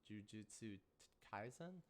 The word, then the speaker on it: Jujutsu Kaisen: I haven't really been watching too much, but I've been watching Jujutsu Kaisen. I think I pronounced that right.